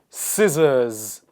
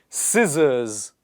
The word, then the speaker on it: scissors: me muscle scenario scenario scissors just another tip this s will be pronounced as Zed so please repeat after me scissors scissors absence absence so the